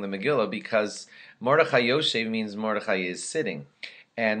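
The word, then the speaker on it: יושב: Because if he reads, like, let's say, Mordechai Yoshev, and Mordechai was sitting in the gate of the king, and instead of saying Yoshev, he said Mordechai Yoshav, well, that alone would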